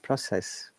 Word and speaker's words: process: of the syllable process if it is a verb stress the second part process okay then t ha